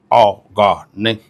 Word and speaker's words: Ọ̀gọ̀ọ̀nẹ: The right pronunciation will be Ọ̀gọ̀ọ̀nẹ.